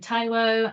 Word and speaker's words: Taiwo: title of my slide I've also put how my name is pronounced that will come into play into why I do that in this talk um but yeah follow Shadow I can mine taiwo and so I just